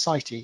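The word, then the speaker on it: CITE: the work done on i think it's pronounced city c-i-t-e uh project in coventry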